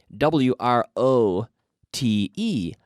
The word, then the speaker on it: wrote: yesterday I wrote wrote WR o te again the W is silent so wrote not wrote